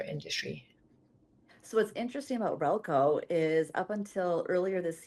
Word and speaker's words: Rehlko: Rehlko.